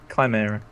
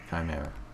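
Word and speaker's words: Chimaera: Rather than doing a command, they can use the wing, which I've already forgotten how to pronounce the name of. Chimera. Chimera.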